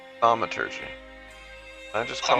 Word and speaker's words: Thaumaturgy: How do you pronounce it? Thaumaturgy. Thaumaturgy.